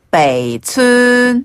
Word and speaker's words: 北村: 이때 주의사항이 있어요. 베이는 아래로 훅 발음을 많이 내려주시고. 베이. 네. 추는 소름으로 길게 추. 네. 그렇게 해주시면 돼요.